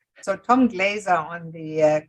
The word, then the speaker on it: Tom Glaser: your host, and I'm excited to have Tom Glaser. Oh, no, Tom Glaser. I'm That's sorry, I say it wrong. That's my German heritage. So, Tom Glaser on the call, and